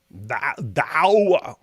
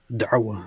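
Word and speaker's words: Da'wah: Dawa. How do you say it right? Dawa. Darwa. Darwa. Yeah, say it. Darwa. Darwa. Darwa.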